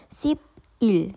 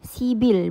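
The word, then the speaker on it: 십일: Jadinya sip il, sibil bacanya gitu ya. Bukan sip il tapi sibil gitu ya.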